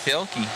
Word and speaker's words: Thielke: You are correct, Thielke.